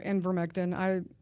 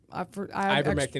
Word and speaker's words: ivermectin: It's either ivermectin or invermectin. Ivermectin is the one that I'm familiar with, but there's- Ivermectin. Okay. I add an N to it, is what it is.